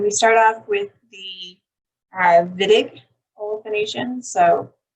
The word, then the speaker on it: Wittig: And we start off with the Wittig olefination. So even though it's a W, it's pronounced with a V sound. So it's a Wittig olefination reaction, which utilizes an aldehyde or ketone and what's called a phosphonamide.